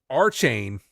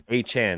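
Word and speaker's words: Achane: Moister went off for me in fantasy, but A-Chain. A-Chain. A-Chain. He put in something to get his name pronounced correctly. No, it's after this game. A-Chan.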